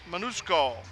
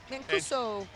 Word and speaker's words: Mancuso: It's Fairhaven Union High School, and it's Allison Manusco. Mancuso. He's correcting all my pronunciation.